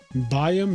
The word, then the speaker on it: Bayern: Bayern Munich is the correct pronunciation phonetically.